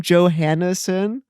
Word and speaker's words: Johansson: in your last name johanneson i mean that's how i've always heard it's pronounced i think but it's definitely not a yo it's a joe for sure well that's how yo